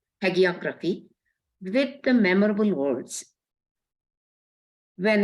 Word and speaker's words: hagiography: in the literature of hegeography is that the correct way to pronounce Brothers unique in the literature of hagiography with the memorable words